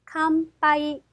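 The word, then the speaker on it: 乾杯: 그런데 여러분들, 저희 책에는 캄, 파, 이, 피읖으로 발음이 되어 있을 건데요. 자, 그런데 파가 중간 정도에 와 있기 때문에 쌍비읍 정도로 발음을 해주시는 게 훨씬 더 일본어에 가깝다라고 생각하시면 되겠네요.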